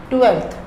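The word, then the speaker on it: twelfth: the spelling of 12थ 12थ टी डब् ई एल एफ टी एच एफ का कोई लेना देना नहीं है 12थ से लेकिन फिर भी इसमें एफ है जो कि साइलेंट है 12थ आई स्टडी इन 12थ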